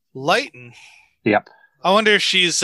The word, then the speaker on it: Leighton: and the ford show right light that's how you pronounce her name lighten yep i wonder if